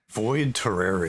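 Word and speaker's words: Void Terrarium: And because I can't always remember how to pronounce it quite right, Lucas, what was the name of the game that you covered? Void Terraria.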